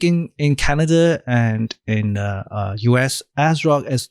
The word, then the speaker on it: ASRock: heard of, Gigabyte and MSI, as well as ASRock. I think in Canada and in US, ASRock is not as a big of a brand, but it's definitely big in Asia.